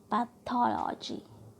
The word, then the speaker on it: pathology: Okay, next देखिए, community, community, पैथोलॉजी, pathology. Okay, geography, right? Geography. Skeletal. इस तरह से आपको प्रोनाउंस करना है.